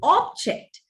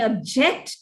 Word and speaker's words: object: known as functional accent now you accent the word on the first syllable you use it as a noun accent it on the second syllable it is used as a verb this is a beautiful object john may object to the rearrangement object is to use